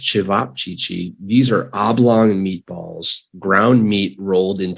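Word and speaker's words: ćevapčići: in asia i hear it's great definitely okay pronounced chivap chichi these are oblong meatballs ground meat rolled into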